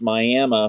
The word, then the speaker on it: Miami: Yes, it's spelled Miami like you would see Miami, Florida, but it's pronounced Miami for our Native American tribe that's here, the Miami tribe.